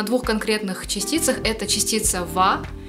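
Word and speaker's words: は: сразу приходит до частицы которая вас пишется буквой h но читается во частица во означает тему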